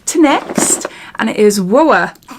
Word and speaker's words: WOAH: new makeup line to next and it is whoa it's how you say it whoa skincare and